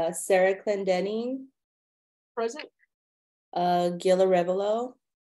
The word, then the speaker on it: Arevalo: Gil Arevalo. Arevalo? Am I saying it wrong? My dad, when he came here, he changed our name. He pronounces it as Yes, and I do, and my grandchildren, Arevalo.